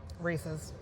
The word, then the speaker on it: Reese's: Reese's. Thank you. Yeah. Because you're not a crazy person. Because it rhymes with pieces.